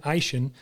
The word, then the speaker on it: Eishen: Today we have Ian Eishen.